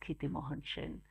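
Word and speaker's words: Kshitimohan Sen: in it's spelled that way but it's pronounced Kitty Mohan Shin so is actually the grandfather of amateursen the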